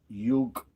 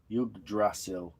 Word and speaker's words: Yggdrasil: That's pronounced Yggdrasil. Yggdrasil.